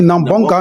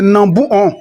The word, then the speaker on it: Nambonkaha: C'est une erreur d'orthographe qui fait que les gars disent Nambonka, Nambonka. Voilà. Et cela arrive beaucoup dans plusieurs villages. Pour pouvoir écrire en français, et ils regardent ce qui est facile à prononcer. Voilà. Et puis ils écrivent sur les pancartes. Et parfois ça reste. Donc on rectifie un peu l'erreur d'orthographe ici. Le nom du village, c'est Nambouon.